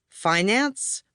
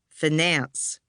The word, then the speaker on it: finance: Did the word start out like fine and have the stress on the first syllable, finance? Or did it begin like fin and have the stress on the second, finance?